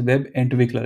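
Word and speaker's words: Webentwickler: It's if it's difficult to change, but the correct way to say is web entwickler and not entwickler.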